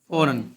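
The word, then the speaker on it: foreign: फॉरन का मतलब बैरून फ रीजन नहीं पढ़ना इसको क्या पढ़ना फॉरन जी इसमें साइलेंट है इसको बैरून समझता है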